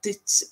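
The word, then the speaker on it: duit: pronounce it, like to do it. People say D-U-I-T and think U is an oo sound, do it instead of dit or or whatever way you want to pronounce it.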